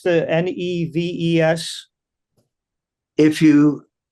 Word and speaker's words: Neves: MR: When I listen to the how do you pronounce the N-E-V-E-S? DF: If you -- backwards it's seven. MR: So is it "Neves?" DF: "Neves" I call it "Neves."